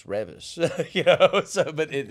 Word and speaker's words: Reavis: see look see she thought my name was I'm like no it's Revis and uh my brother